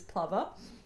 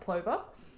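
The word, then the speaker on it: plover: by the Brits that it is plver and not Clover. So, it's PL like glover and not Clover like loy lover.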